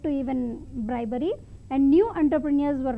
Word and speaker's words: entrepreneur: even bribery, and new entrepreneurs were not allowed to come. I wish to tell one important thing here. We often see this word, but it is pronounced as entrepreneur.